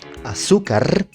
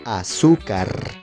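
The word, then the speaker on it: azúcar: For example, the Spanish word for sugar, aukar. Pronounce it with me for anyone watching. Aukar. Aukar with stress in the second syllable.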